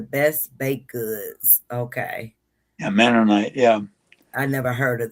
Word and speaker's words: Mennonite: We have Mennonite, is that how you pronounce it? Grocery stores that make the best baked goods. Okay. Yeah, Mennonite.